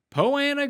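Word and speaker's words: Poa annua: poa po anna greens two for two in pronouncing it properly it just looks so weird when you look at it look at it spelled out that there's no way that it could be pronounced like that when you merge the words together but hey here we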